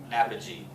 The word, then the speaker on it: apogee: The fancy term for this is called apogee.